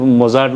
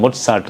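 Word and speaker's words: Mozart: അങ്ങനെ ഓരോ പിന്നെ ഇത് മൊസാർട്ട് എന്നല്ല, മൊട്സാർട്ട് എന്നാണ്.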